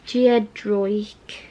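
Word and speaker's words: Giedroyc: things by mel oh i'm gonna try and pronounce her last name mel geodroik that's it and this is a signed edition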